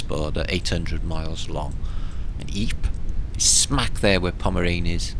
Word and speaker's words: Ypres: there it is again we call it a bris or eeap's and British soldiers in first world war called it white purse we're going to white purse because they couldn't pronounce the French version EEP it just looks